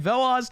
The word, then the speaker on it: Veloz: advanced playoffs it's team velaz v that's how you pronounce it right veloz versus team virum it's